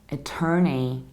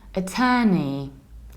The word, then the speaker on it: attorney: And in the American accent, we have attorney, attorney. And I know that you see the OR and you feel like saying O, but it's a long e.